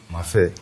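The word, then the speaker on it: mafé: today we are going to to make a mafi mafi can you spell that word mafi m-a-f-e mafi but we are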